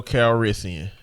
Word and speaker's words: Calrissian: The title of this is Lando Meatrissian.